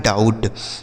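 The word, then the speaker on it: doubt: जैसे डी से हो गया ड। ओ के साथ यू है तो औ और बी यहां पे साइलेंट होता है। टी से ट यह लिखा है डाउट।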